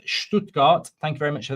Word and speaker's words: Stuttgart: Anyway, um also says Redstone, it's pronounced Stoodgart.